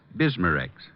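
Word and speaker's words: Bisma-Rex: slowly ease up that gastric distress and finally bismarex leaves a soothing protective covering on irritated stomach membranes well I'll have to remember that bismarex is that how you say it that's right ma'am b-i-s-m-a hyphen r-e-x bismarcks ask for bismarcks at Rexall Drug stores everywhere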